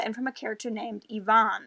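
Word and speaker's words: Evaan: from a character named Yvonne. I think it would be pronounced Yvonne. It's E-V-A-A-N.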